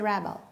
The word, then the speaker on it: rebel: Sam is a rebel. He rebels. Where is the stress in a noun? Yes, it's on the first syllable.